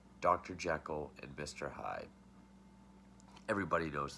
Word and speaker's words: Jekyll: Henry or Harry Jekyll which in this film and I think this is the only film where it's pronounced G Cole the Protestant G Cole he creates this potion